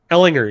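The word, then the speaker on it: Ehlinger: how do you say his last name Ellinger Ellinger yeah is he he should be an upgrade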